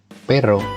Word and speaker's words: pero: Pero artinya tetapi.